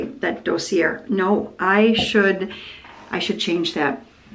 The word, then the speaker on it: Dossier: So here we go, Dossier Fragrances, and today I am going with floral berries because it's cranberry season.